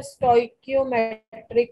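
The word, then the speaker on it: stoichiometric: बेटे, इसे बोलते हैं स्टोइकियोमेट्रिक कोफिशिएंट्स। यस, देखो सी एच की प्रोनाउंसिएशन या तो च होती है या क होती है। ठीक है, श बहुत कम होती है, बट कई बार इसे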